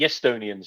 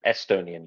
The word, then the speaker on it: Estonian: So the Estonians are called that because Russians are unable to pronounce the eh noise. So the eh with a glottal stop you get from beginning a word with a vowel. That's apparently very difficult for Russian speakers to pronounce. So they put a y in it. So instead of Estonian, you get Estonian. So Karl Vino was a